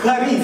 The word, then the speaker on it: charis: Grace in the Greek language is the word charis. Everybody say charis. Come on, put the ha on it, okay? It's okay, it's okay. That's how they say it.